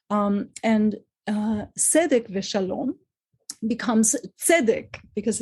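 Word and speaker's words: שלום: first Congregation of suram was called salom that's the Portuguese Hebrew pronunciation of what today in modern Israeli Hebrew we would say shalom so you can see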